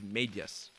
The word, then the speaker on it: Medyas: Okay, it's Medyas. It's a one-syllable thing. I keep getting that wrong.